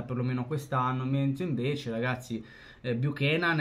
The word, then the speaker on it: Buchanan: fa Fabrizio romano che bu kenan perché se non sbaglio si pronuncia così essendo canadese il giocatore è praticamente